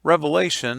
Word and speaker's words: Revelation: The very first word in the book of Revelation, I want to point out, it's not Revelations, it's Revelation. The very first word in the book is Apocalypse.